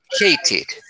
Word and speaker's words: hated: Hated. Hated. Así se pronuncia. Hate. Y le agrego el sonido it.